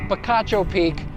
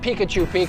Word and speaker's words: Picacho Peak: near the ranch is picacho peak and picacho peak for arizonans is quite a bit of history there it is pronounced picacho peak not pikachu peak i know millions of